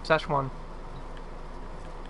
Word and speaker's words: Szechuan: Szechuan? Szechuan? Yeah, that's it. Szechuan.